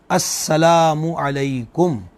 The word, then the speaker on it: السلام علیکم: دینا واجب ہے۔ اچھا، پھر درست جو تلفظ ہے سلام کا، مطلب سلام علیکم، تو سام جو ہے وہ عربی زبان میں موت کو کہتے ہیں، تو السلام علیکم کا مطلب ہوا کہ تم پر موت ہو، تو یہ غلط الفاظ استعمال نہ کیے جائیں، تلفظ درست کیا جائے السلام علیکم، ورحمۃ اللہ وبرکاتہ، اس